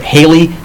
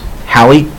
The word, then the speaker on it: Halley: some like Halley's Comet many people pronounce it hailey but actually in britain since he was British it was Hallie have very regular orbits